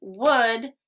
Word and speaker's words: would: l is silent could when we say could would should we do not hear the l at all the l is silent